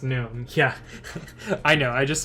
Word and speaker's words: GNOME: least part of it the g is silent it's known yeah i know i